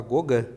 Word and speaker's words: Gauguin: Fizeram parte os pintores Paul Cézanne, Paul Gauguin, é Gauguin que se escreve, mas fala Gauguin.